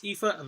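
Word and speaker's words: Aoife: uh it's her spell her name is spelled a-i-f-o-i so it's but it's ifa valkyrie uh i'm not knocking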